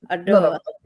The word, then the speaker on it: Ottawa: You've got to pronounce the T. Change the T to D. So Ottawa.